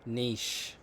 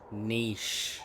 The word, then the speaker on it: niche: traveling is a niche a small tight-knit community Niche Niche it's not pronounced Niche it's niche um tell me about